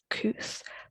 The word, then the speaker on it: Kooth: So first up is Kuth, which is spelled Kooth.